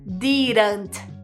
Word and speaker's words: didn't: quer chamar atenção pra pronúncia de didn't vocês podem ouvir dessa forma mais did com o t mais né mais claro mas falando rápido principalmente no inglês americano eles vão falar I didn't didn't I didn't I didn't